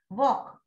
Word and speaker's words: walk: So, wherever there is single E, walk, we said walk, L is silent.